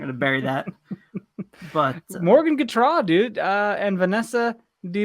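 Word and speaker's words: Gautrat: it wrong this whole time if you've been pronouncing it wrong dude the phonetic spelling they got its guitar sorry yes wow she's never coming on this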